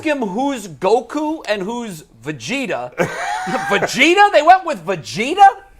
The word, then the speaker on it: Vegeta: ghost that was good did you say vetta is that how you pronounce it's called Vegeta oh damn it it